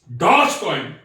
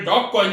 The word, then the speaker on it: Dogecoin: Dogecoin, DOGECOIN, Dogecoin कहने सही है. कई जगह मैंने डॉग कॉइन भी पढ़ा है, तो दैट लुक्स ऑड.